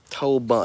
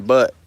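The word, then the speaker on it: Tolbunt: American Poultry Association as a breed, but So spell it for me. fanciers are looking to do T-O-W. that. Polish T-O-L-B-U-N-T. Toll bunt. Toll bunt. Toll Bunt. bunt. Bunt. Toll bunt. T-O-L-B-U-N-T. We kept saying butt.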